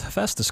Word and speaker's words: Hephaestus: item boost by shooting hey he pronounced hephaestus correctly hephaestus is a level that uh if you show that word to anyone you're gonna get different pronunciations of it took me a long time to figure it out um having to listen to many people i think i i